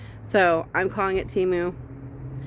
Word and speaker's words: Temu: that timu order and do you say timu TAMU or TAMU because I actually went online to see how it's supposed to be pronounced and they repeatedly said say teu it was just that one commercial that said